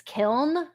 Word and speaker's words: kiln: instead of a like he did not pronounce the n and there is a